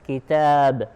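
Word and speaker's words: كتاب: So here this kitab is written as kaf, ta, ba, even though we pronounce as kitab with the mad after the ta.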